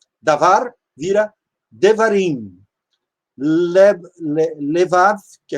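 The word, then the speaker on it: דברים: Quando um sufixo é acrescentado a um substantivo, o primeiro passo é tentar reduzir a vogal na sílaba propretônica, até Shevá, que é no caso do davar, vira devarim.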